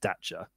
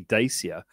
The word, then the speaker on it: Dacia: i think so dacha the famous romanian that's probably not pronounced dacha that's because i'm being all italian about it it's probably dacia because it's a romance language romanian so the seas are slightly